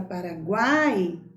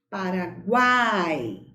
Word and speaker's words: Paraguai: E quando nós pronunciamos a palavra Paraguai, veja bem, a letra U é pronunciada com menos intensidade. A letra A é pronunciada com mais força, com mais intensidade.